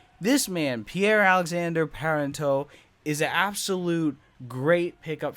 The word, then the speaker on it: Pierre-Alexandre Parenteau: But it's Pierre-Alexandre Parenteau. And I looked that sucker up because I didn't want to mess up his name. And I think I said it right. This man, Pierre-Alexandre Parenteau, is an absolute great pickup for Colorado.